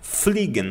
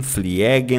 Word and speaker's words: fliegen: mais importante no início, porque o e u tem som de oi e o i e tem basicamente o som de um i esticado. Fligen você não vai dizer fliegen, fiegen, flegen não é fligen, tá?